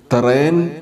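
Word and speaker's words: ܬܪܝܢ: നമ്മൾ പഠിച്ചതനുസരിച്ച് ഈ വാക്കിലെയും യോധ എന്ന അക്ഷരം ലോങ് എ എന്ന വവലുള്ള അക്ഷരത്തിന് ശേഷം വവലില്ലാതെ വന്നിരിക്കുന്നത് കൊണ്ട് അത് ഉച്ചരിക്കുന്നില്ല. അങ്ങനെ ഈ വാക്ക് വായിക്കേണ്ടത് തറേൻ എന്നാണ്.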